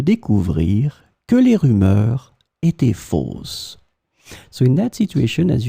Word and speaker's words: fausse: In this lesson, we will see together two words that are written differently but pronounced the same way. Fausse, fausse.